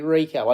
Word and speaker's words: Errico: Yeah, Errico. I think it is anyway. Well, that's how I like it being pronounced. Some people used to say Errico, but I'm really even not 100% sure myself. But I think my mum said Errico, and I say Errico.